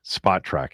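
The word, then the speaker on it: Spotrac: Spotra is how you pronounce it.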